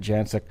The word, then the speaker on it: Janczuk: But before we do any of that content that we get to, we got Janczuk joining us on the line.